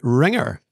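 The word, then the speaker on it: Ringr: Next, we come to Ringer. Now that's spelled R-I-N-G-R, missing out the vowels, as you have to. Ringer is one of the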